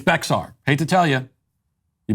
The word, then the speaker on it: Bexar: All these comments, it's pronounced Bear County.